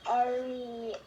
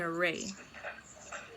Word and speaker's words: array: It's called Arius. That's good. You're pronouncing it a little bit off. It's called an array. Yeah, but you got it right.